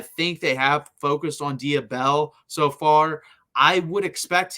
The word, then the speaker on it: Dia Bell: We'll talk about Dia Bella in a second. And just so I'm pronouncing that right for the D, it's Dia, D-I-A, and then Bell, B-E-L-L, for Dia Bell, not Dia Bella.